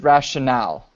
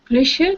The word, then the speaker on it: rationale: Yeah, and this is rationale. Ratio? No. Rationale. Okay. Rationale is a noun. Rational is an adjective. A rational person. Okay. So lots of times the nouns and the adjectives are pronounced differently like this.